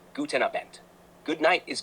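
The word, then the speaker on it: guten Abend: not quite Kleiner shriber in german good evening is guten abin pronunciation guten abent good night is G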